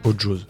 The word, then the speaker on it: Ojoz: Ok, j'ai bien prononcé, on dit Ojose, Ojose. Ouais, chacun choisit un peu son accent. Je trouve ça assez drôle. Toi tu dis quoi? Ojose. Ojose. Ouais, avec le Joe.